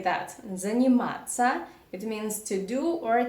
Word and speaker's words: заниматься: In the end, you see the combination of 4 Russian letters. T, soft sign, S, Ya. We have 4 letters, but we pronounce them as only 2 sounds. Занима. You do not say тся or тися or something like that. You just say ца. Ца.